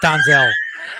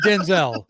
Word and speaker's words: Denzel: Thibodeau it's actually Thibodeaux I think Denzel said that the other day what's that that it's danzo or something like that you get the out of here it's not danzel I'm just saying it's 40 Years of calling him Denzel 40 years there's no way it's donzell if it is that's